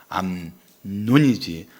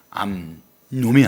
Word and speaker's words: 암논: 암논을 말할 때는 발음을 잘해야 돼요. 암논이지 암놈이 아니에요.